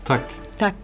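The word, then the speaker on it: tack: how do you say thank you in Swedish tuck tuck that's easy Tu tuck that was the Palestinian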